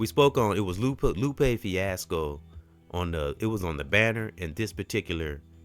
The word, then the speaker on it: Lupe: If you see, it says Lupo, but I meant to say Lupe, and I kept saying it all through the podcast.